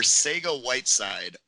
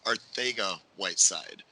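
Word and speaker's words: Arcega-Whiteside: Miller and bear with me here we are Saiga Whiteside but apparently it's pronounced Ortega Whiteside with two months I know and I thought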